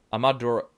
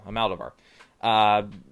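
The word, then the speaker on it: Almodóvar: I tried to pronounce it last time. I struggled with it. Almodovar, there we go, Almodovar, and stars Antonio Banderas, Penelope Cruz, a few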